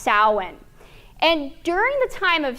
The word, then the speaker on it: Samhain: soin now it looks like it would be pronounced Samhain but it's pronounced soin and during the time of salan the October